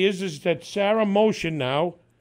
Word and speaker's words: Mohsin: So what we want to say is that Sara Mohsin now, H is silent.